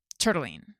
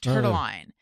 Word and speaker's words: Turtlene: stories wrote and said, "How do you do you pronounce it like Turtleine?" Like Caroline. Turtleine. And I was like, "Oh my god, Turtleine is such a good name." Yeah. Unfortunately, it's turtlene.